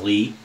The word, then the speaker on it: Lea: I pronounce it like my last name. My last name is Lee. It's spelled L-E-A.